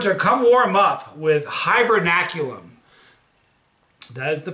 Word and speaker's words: Hibernaculum: war this went to come warm up with hibernaculum that is the pronunciation hibernaculum is for facebook hibernaculum here it is for